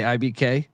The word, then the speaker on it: IBK: You just say IBK like JFK.